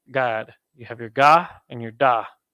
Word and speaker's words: Gad: that kind of endurance the tribe of God is pronounced God you have your God